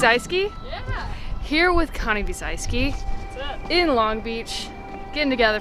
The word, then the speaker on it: Biesalski: he's gonna fall immediately here today with Connie Celski how do you say your last name he's I ski here with Connie B's I ski in Long Beach getting together for little collab